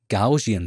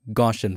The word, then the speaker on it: Gaussian: Go to Filter, Blur, and then Gaussian Blur. That's how you should pronounce it. I always used to say Gaussian blur.